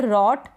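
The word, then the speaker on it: wrote: Same ऐसे ही ये है रॉट। क्या है, रॉट। यहाँ पर ये जो लास्ट में ई है इसका उच्चारण नहीं होता, तो इसका उच्चारण नहीं होता।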